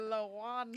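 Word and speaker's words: Lawon: You think it's spelled like a Mexican? Like I think so. L.A. Juan? Juan, yeah. W. Yeah, LA. Is it Lawan? Yeah, I Yeah. believe. Say it, Ada. Lawan.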